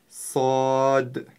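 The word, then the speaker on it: صاد: правильно произносить эту букву буква сад относится к твёрдым буквам это одна из твёрдых букв арабского алфавита и ещё она свистящая с сод послушайте внимательно сад сод на конце мягкая д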